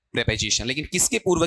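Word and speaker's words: preposition: बताओ इसका उच्चारण क्या रहेगा? बोलो देखें। क्या पढ़ोगे इसे? प्रीपजीिशन या प्रेपजीशन? प्रपजीिशन।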